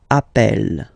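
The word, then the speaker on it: appelle: form Double L so when you get this a vowel and then you get a double consonant and well they are the same then it does change the pronunciation of uh you tend to pronounce it like e e really open that's the reason why you pronounce it app Appel okay Appel Appel Appel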